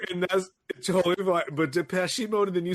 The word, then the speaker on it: Depeche Mode: This is a Depeche Mode situation. You said it wrong both times. INXS. Is that in excess? In excess. In excess. I would never know that. And it's Depeche Mode.